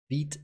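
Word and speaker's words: Vite: as a build tour is it bite or beat as it's pronounced i don't want uh even you to come get me so we are using veet and vit has configuration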